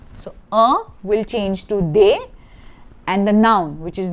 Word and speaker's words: des: The pronunciation is not des, it is they.